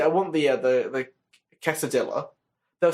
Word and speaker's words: quesadilla: No, I'm just saying that's the reason why tortilla and quesadilla are pronounced the way they are. That's the reason why. It's because they're in the Spanish language, and in the Spanish language, that's the rule.